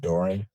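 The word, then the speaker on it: Dora: Spelling on the last name is D O R A and it's pronounced Dory.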